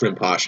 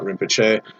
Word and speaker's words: Rinpoche: the galaxy in which it's pronounced Rinpoche and not Rinpoche.